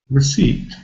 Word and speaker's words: receipt: pronounced we've got p which is not pronounced why is that there we don't know but it's there we have to learn it but in clear alphabet you can see very clearly the first syllable is weak receipt you see can